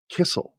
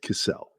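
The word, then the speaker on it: Cissell: people pronounce my name I have two s's and two L's in in my last name which makes the E soft so it's not Kissle that's with one L it's cissel well and somebody would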